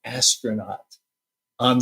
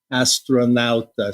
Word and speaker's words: astronauta: And there's this big mosaic of an astronaut on the surface of the moon. Well, how do you say astronaut? Astronauto? Astronauta.